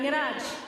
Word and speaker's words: Neeraj: I said I want to pronounce it how you pronounce Neeraj. Neeraj. Neeraj. See, I'm gonna say it. I don't want to say Neeraj. I'm gonna say it the right way.